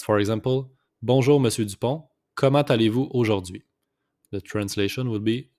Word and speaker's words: comment allez-vous: Comment allez-vous aujourd'hui? Just make the liaison here, comment allez-vous? It's the T with the A, so it's pronounced comment allez-vous aujourd'hui?